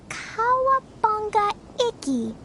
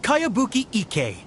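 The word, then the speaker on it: Kayabuki Ikku: new one i've never heard of it by cowabunga icky this is a really strange name who's this cowabunga it's pronounced kaiabuki ek that would be me outlander brigade is a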